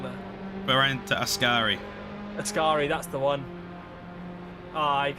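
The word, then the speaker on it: Variante Ascari: that very well have i got the corner name wrong there berenta askari askari that's the one i i totally forgot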